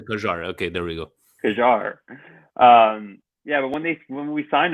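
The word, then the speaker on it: Kjær: Kajar. Kajar. His name is Kajar. Kajar. Okay, there we go. Kajar.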